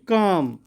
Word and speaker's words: calm: Then calm, L, C-A-L-M, L.